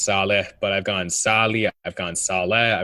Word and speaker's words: Salih: it's okay everyone mispronounces it's pronounced Sala but I've gone salia